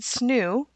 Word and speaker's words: SNHU: not by the way if i ever said snoo late disclaimer that's how we locals say snhu so that's what that